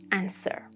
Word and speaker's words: answer: First of all, when we have writ like in who, whom, whose and number three, no pattern like in to, sword, and answer.